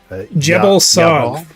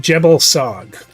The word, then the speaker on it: Jebel Sog: Jebel Sog. It's a hard J. From the blood of Jebel Sog.